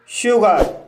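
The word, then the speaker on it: sugar: जैसे शुगर, शुगर शब्द में एस के बाद एच नहीं है, फिर भी यहाँ पर एस का प्रोनाउंस शा हुआ है, इसलिए इसे शुगर पढ़ा जाता है और शुगर मीन्स होता है चीनी।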